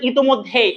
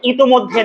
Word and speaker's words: ইতোমধ্যে: এবার already, already মানে ইতোমধ্যে, উচ্চারণটা হচ্ছে ইতোমধ্যে, নট ইতিমধ্যে। আমরা সাধারণত বলি কি ইতিমধ্যে, বইগুলোতে, অনেক বইগুলোতে লেখা, বাট এটা আসলে আধুনিক মানে এটা সঠিক নয়। তাহলে সঠিকটা কি? ইতোমধ্যে।